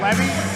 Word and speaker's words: Levy: i caution you blake the pronunciation of his name is levy he's very touchy about